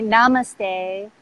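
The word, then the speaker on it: नमस्ते: you know Indian culture namaste is it is pronounced namaste and actually I'm glad you said that the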